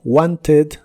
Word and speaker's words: wanted: Y los verbos regulares de inglés que en el presente terminan con el sonido T o D, en el pasado la ED que se les agrega se pronuncia como ED, pero con una E muy suave, como wanted o needed.